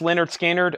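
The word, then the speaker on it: Lynyrd Skynyrd: we got Leonard skinnard we have pronounced Leonard skinnard and second helping their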